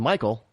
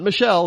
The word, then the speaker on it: Michael: like Michael and and pronounced like Michael not Michelle it's Michael so remember the actress Michael